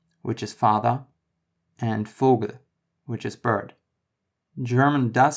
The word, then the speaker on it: Vogel: The V, or V, is pronounced like an F in German. Vater, which is father, and Vogel, which is bird.